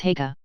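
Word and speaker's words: Haigha: His name is Heka. He pronounced it so as to rhyme with mayor.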